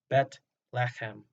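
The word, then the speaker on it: בית לחם: Bethlehem is our English pronunciation of the Hebrew compound word Bet-lechem.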